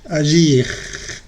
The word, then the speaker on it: agir: Sí se pronuncia. Se dice finir, agir, choisir. Pronuncias bien la R al final.